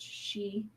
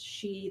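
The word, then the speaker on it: sídhe: crowd the gentry um it is pronounced she as well as in scotland it's also pronounced she they have their own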